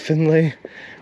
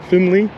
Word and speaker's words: Findlay: Is it a Lee? Why is there an A in there if it's a Findlay?